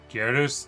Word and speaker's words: Gyarados: Gyarados. The G. No, I started pronouncing it.